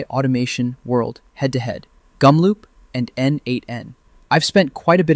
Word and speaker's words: n8n: Meanwhile, n8n, pronounced n8n, has been around since 2019.